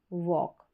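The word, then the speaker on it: walk: टॉक में L silent है। वॉक में।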